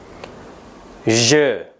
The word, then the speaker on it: je: Pengucapannya adalah je. Banyak penutur berbahasa Indonesia yang melakukan kesalahan dalam pengucapan, seperti pada pengucapan-pengucapan berikut. Nah, ini pengucapan-pengucapan yang kurang tepat. Je, J, atau J. Ya, itu semua pengucapan yang tidak benar. Pengucapan yang tepat adalah je.